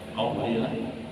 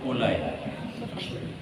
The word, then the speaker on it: qauli: rukun kauli rukun quli Bacanya qauliah jangan baca rukun Ulai rukun kauli arti kauli